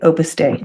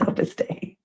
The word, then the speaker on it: Opus Dei: Yes, I think that day, pronounced day, Opus Day. Thank you. Of course it is Opus Day.